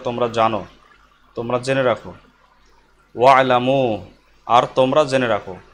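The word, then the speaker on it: وَاعْلَمُوا: ওয়ালামু আর তোমরা জেনে রাখো, ওয়ার কারণে এখানে হামজার উচ্চারণ হবে না।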